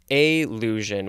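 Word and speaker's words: allusion: this episode is illusion not illusion but a lusion with an A a ll us IO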